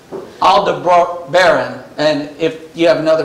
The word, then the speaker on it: Aldebaran: pollocks and arcturus and i always want to say alderaan on this but i know it's not alderaan this alda bro baron and if you have